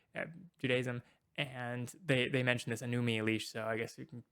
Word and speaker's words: Enuma Elish: just copies of the Enuma Elish, which he says Enumi Elish. I don't know. It's pronouncing it strange.